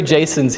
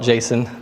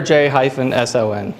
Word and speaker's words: JSON: three Jason's here who prefer not to call it Jason because that's it's a namespace name space conflict in the human world so I'm not going to go there so we pronounce it letter J - s oh n but but if Jason